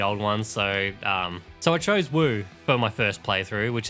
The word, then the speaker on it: Wu: will branch off: Shu, Wu, and Wei. As of this review, I've only completed one of the storylines, which was Wu, or how the characters pronounce it, U.